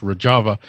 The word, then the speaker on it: Rojava: I keep saying Rojava. It's actually pronounced Rojava.